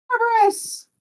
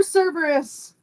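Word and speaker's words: Cerberus: Um, so we will start with Cberus or Cberus. The the uh the pronunciation can vary slightly.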